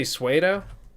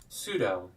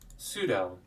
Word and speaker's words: pseudo: okay so uber spidey says that's not how you say sueto all right call me out live i can't even spell it either pseudo oh man all right pseudo i've been saying that wrong i was saying that wrong for years pseudo who the hell